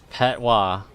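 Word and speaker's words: Patois: Patwa.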